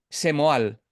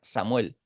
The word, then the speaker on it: Samuel: mí me llamarás eh semal Yo no me llamo semal no me puedes cambiar mis vocales No mi nombre no se pronuncia semu se pronuncia Samuel no Entonces ellos hacen